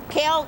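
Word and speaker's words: Kael: oh my God what is your name kale kale how do you spell that k k a e l oh my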